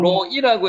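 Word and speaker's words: רֹעִי: 로에 여기는 로이라고 읽는데 로이 이렇게 로이 목자입니다.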